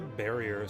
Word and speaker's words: Varia: there's the barrier suit I've always wondered if it's meant to be barrier cuz like Baria and varia like you know have the same pronunciation in Japanese Baria is the way that you would pronounce the word barrier in Japanese I still think varia is the right way to go regardless I'd much